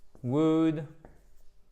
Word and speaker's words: would: Le L ne se prononce pas exactement comme dans would, should, could, etc. Ok, je vous les note les 3 ici. Would. On ne prononce pas le L, c'est pas would, c'est would, could, should. Ok, guys, super important, hein? Pas de L.